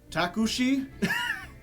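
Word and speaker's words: タクシー: And he's like, and I'm like, takushi? He's like, takushi. And it's like, yeah, it's just taxi, but instead of 1 syllable, it's taksu-shi. Or taku-shi. They got the X kind of broken up there.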